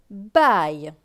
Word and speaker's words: baille: B avec A-I-L. A-I-L se prononce aïe. Donc B et aïe, baille.